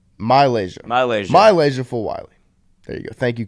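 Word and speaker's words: MiLaysia Fulwiley: Y'all got to pronounce her name correctly. Malaysia Fulwiley.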